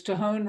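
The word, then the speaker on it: Tejon: that didn't have the in it uh it's tohon ranch grass fed at costco oh how do you spell it t-e-j-o-n okay thank you i can give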